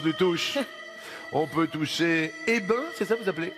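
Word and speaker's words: Eybens: On peut toucher Hébin, c'est ça vous appelez? Eh ben, on prononce pas le S final.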